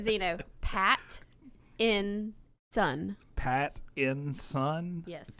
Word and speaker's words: Pattinson: Pat in Son. Pat in Son? Yes. It sounds dirty when you say it out like that. But that's the phonetically correct Robert way to say Pat in Sons. Pattinson.